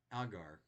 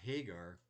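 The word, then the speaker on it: Ἁγάρ: apparently doesn't get pronounced the h doesn't get pronounced so instead of hagar it's agar okay which law the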